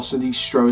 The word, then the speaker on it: Sinistro: I don't know the maze that well, however I do believe that Circo Sinestro, or Sinistro as it's pronounced, will have some great circus theming, some lighting.